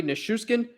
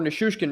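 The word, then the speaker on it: Nichushkin: ko makar and valeri nashuscan with two goals eat or nissushkin rather pronounce that wrong two goals each in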